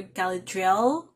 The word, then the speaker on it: Galadriel: name correctly galadriel or galadriel because her short form name is l so i guess you pronounce it galadriel and orion i'm guessing